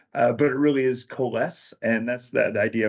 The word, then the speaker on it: Coalesce: to use Kass so so anyway the correct pronunciation some people have said KES but it really is KES and that's the the idea of kind of